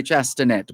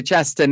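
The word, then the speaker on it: Chastanet: spelled c-h-a-s-t-a-n-e-t c-h-a-s t-a-n-e-t the t the last t is silent the t at the end is silent so it's allen shasta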